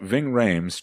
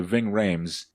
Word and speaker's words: Ving Rhames: owners are doing to Ving Rhames it rhymes with vaping but it's a lot